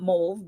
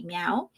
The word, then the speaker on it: MEOVV: So, I was told it's not Mauve because that's how I've been pronouncing it, but I was told it's actually Meow.